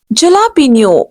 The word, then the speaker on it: jalapeno: Next word is Next word is jalapeno. No, no, incorrect. Absolutely incorrect. Here we are supposed to give J sound of H. Jalapeno. Jalapeno. Actual word will be jalapeno or jalapeno, you can say.